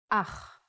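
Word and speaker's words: אח: Ach is a brother in Hebrew. Ach. The pronunciation is important. Try to pronounce it more glottally from your throat.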